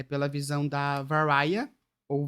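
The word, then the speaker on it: Varya: O primeiro capítulo, que é um prólogo, é pela visão da Varia, ou Varia, V-A-R-Y-A. Varia a pronúncia.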